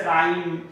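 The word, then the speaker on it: rhyme: तो यहाँ पे ध्यान रखना है, कुछ व्यंजन के बाद यानी कुछ व्यंजन शुरू में आ जाए उसके बाद अगर एच आता है तो हमेशा एच यहाँ पे साइलेंट होता है, जैसे राइम, यहाँ पे हम घोस्ट बोलते हैं, एक्सेट्रा।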